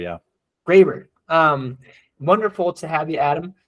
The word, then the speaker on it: Graber: Is that how I pronounce it? Graber, yeah. Graber.